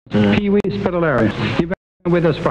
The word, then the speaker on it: Spitelera: And your name and last name is pronounced Spitelera, is it? Mm. Pee-wee Spitelera.